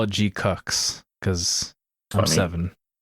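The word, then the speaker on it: GQuuuuuuX: Uh, Gqu I figured out how to pronounce it while watching the movie. I took my brother to see it and my brother's like, "How do you pronounce this?" I'm like, "I don't know. We'll find out during the movie, I guess. And uh yeah, it's it's G Cooks.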